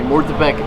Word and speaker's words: Murtabak: Okay, so this next one has a lot of different pronunciations. Yeah. So I'm gonna go with Murtabak, but I think you can say Murtabak. It has a whole bunch of different ones. Yeah, I think in Arabic it's Murtabak.